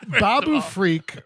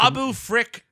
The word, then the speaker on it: Babu Frick: And not only that, Babu Freak or whatever is fucking. Babu Frick.